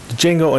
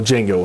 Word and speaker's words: Django: at the next video django unchained well django unchained because the d is silent i like that line